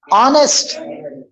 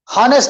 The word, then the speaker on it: honest: H is completely silent.